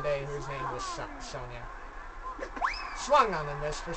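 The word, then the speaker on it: Sonja: to pronounce her name s onj a Soviets not soldier not Sandra it's not any of that it's Sonya Sonya I had a friend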